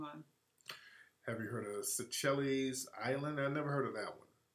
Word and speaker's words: Seychelles: Have you heard of Seychelles Island? I never heard of that one. Never heard of that one. Oh, yes, pronouncing wrong.